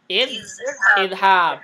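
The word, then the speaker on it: اذهب: Ini ha-nya berharokat fathah. Berarti hamzah waslnya berharokat kasroh. Kasroh, ingat ya. Berarti bacanya apa? Idhab.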